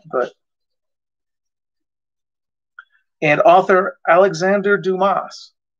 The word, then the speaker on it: Dumas: And author Alexander Dumas. Not to be confused with dumbass. It was the thick head root beer commercials. I'd love to be here working at Dumbass and Dumbass. It's pronounced Dumas. Dumas.